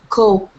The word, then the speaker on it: coop: Soup, Coop. Very good. Right? Close. Soup is correct. Coop has the same sound. Soup, coop. Coop. To pronounce the hard P, coop.